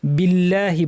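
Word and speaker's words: بالله: করা যাবে না আউজু বিল্লাহি বলার সময় আল্লাহ শব্দের লাম ভারী হয় কিন্তু যদি আগে জের থাকে যেমন এখানে বা জের বি আছে তাহলে পাতলা হবে বিল্লাহি বলতে হবে বিল্লাহি নয় মিনাশনকে জিহ্বার মাঝখান থেকে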